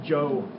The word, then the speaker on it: Zhou: It's called the Eastern Zhou Dynasty. Zhou, just like the name Zhou. But we spell it Z-H-O-U.